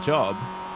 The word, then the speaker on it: Job: I remember when we used to speak about Sebastian Job, or Job, as he's correctly asked everybody in the world to pronounce it.